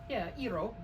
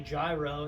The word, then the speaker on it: gyro: Yeah, Eero. My roommates say gyro, and that bothers me because that's not how you pronounce it.